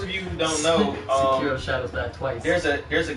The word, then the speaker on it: Sekiro: Seiko? Seiko? Oh yeah. How do you say it? I don't know how you say it. Sekiro? Sekiro.